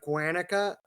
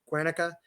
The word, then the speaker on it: Guernica: Franco just one other thing the bombing of guanica I think I pronounced that right Guernica you can look that up he denied it